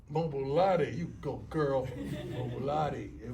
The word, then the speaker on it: Mobolade: Mobolade. Mobolade, you go, girl.